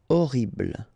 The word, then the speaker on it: horrible: Okay, remember we don't pronounce H here. Horrible.